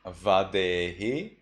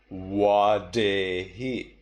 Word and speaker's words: vadehi: Instead of Vadehi, I read Wadehi.